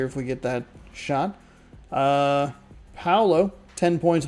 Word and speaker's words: Paolo: Paolo, like POW, like a POW block from Mario.